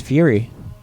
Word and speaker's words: Furie: Fury oh Fury there you have it it's Fury W um and do you feel the pronunciation of your name has any reflection on